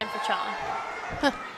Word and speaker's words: Sankfachon: Just like it's spelled. Sankfachon.